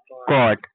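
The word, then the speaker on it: caught: सी ए यू जी एस टी कॉट। यहां पे भी जी एच साइलेंट है। ये याद रखना।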